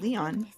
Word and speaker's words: Lion: Leon Leon or Lion Leon. Leon. Like a French Leon.